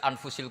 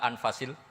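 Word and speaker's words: أنفس: saja di sini ditulis anfusil kutub saya baca anfasil kutub karena maknanya kitab ter baik Kalau kitab terbaik bacanya bukan anfus tapi apa anfas ya nanti kamu debat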